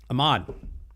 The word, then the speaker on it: Ahad: pronounce it the way it's Arabic name so it's it's very difficult to say the letter ha so in English it's ha but there's a yeah ha like Ahmed in Arabic Ahmed or ahed